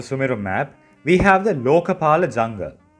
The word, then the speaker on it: Lokapala: From the very north of the Sumeru map, we have the Lokapala Jungle. Lokapala Jungle. You need to drag the lo sound, then ka.